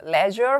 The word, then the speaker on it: leisure: leisure 혹은 leisure 이렇게 발음하고요.